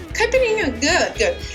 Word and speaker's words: caipirinha: This is called caipirinha. Say. Oh, your pronunciation is good. Say again. Caipirinha? Caipirinha? Caipirinha, good.